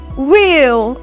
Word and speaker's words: wheel: do not forget a k is not word pronounced therefore K is not be word transcribed next I have wheel as in wheel barrow my wheel is describe